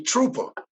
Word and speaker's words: Truepa: It's actually Truepa. Oh, Truepa. I'm just saying it wrong. That shit say, I thought it was Truepa. My word. Well, it's actually a spin from like trooper, like a paratrooper or something.